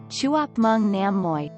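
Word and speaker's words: chúc mừng năm mới: vietnamese by telling them chuk mung nam moi pronounced roughly as it is transliterated the greeting sounds like chuap mung nam moi new year foods in vietnamese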